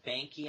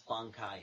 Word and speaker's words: Bankai: They had Ichigo's Shikai and the Bankai, and they kept calling it Banki. I'm like, no, it's Bankai. It's Japanese.